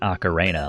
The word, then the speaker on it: ocarina: Let's pronounce it ocarina like Macarena.